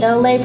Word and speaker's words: Elay: Howdy, it's me, Elay, pronounced like LA, like the city.